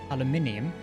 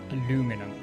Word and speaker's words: aluminium: on the channel uh I am very adamant that it is spelled and said aluminium and not aluminum and Alum aluminum is heretical of course but it's just quite